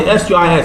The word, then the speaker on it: suis: Normally S-U-I-S is pronounced suis, but when you have a vowel after the S, the last S there, you have je suis, becomes suis, and the last S is just pronounced as a Z.